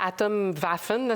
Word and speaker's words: Atomwaffen: et ce groupe là atom vaffen si on le prononce à l'allemande c'est un groupe d'extrême